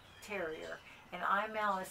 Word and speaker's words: Imaal: It's he is a Glen of Imal Terrier, and Imal is spelled I-M-A-A-L.